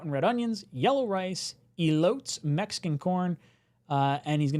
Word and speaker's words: elote: What's the correct? Elote. Elote. Yeah.